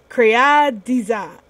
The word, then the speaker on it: Créadiza: Créadiza. So it's like creator designer.